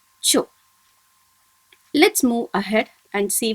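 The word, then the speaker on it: ちょ: And when chi combines with small yo, it is pronounced as cho. I'll read it once again for you. Kya, kyu, kyo. Sha, shu, sho. Cha, chu, cho.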